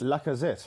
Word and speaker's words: Lacazette: See, I think it looks like they've got the boy, you must pronounce the name, from France. Lacazette.